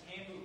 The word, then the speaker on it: tambu: is tambu bamboo. Now, tambu comes from the French word for drum, which is tambour, and it rhymes with bamboo.